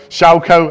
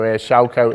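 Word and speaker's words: Chaokoh: Schauko, I believe it's pronounced. I've been practicing that. Andy Heaton's been teaching me how to say it. So Schauko is how it's pronounced.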